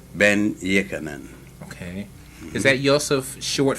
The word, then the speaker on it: Ben-Jochannan: Everybody says Dr. Ben, but I know there's more to it than that. So give me the full name is Yosef Alfredo Antonio Ben-Jochannan.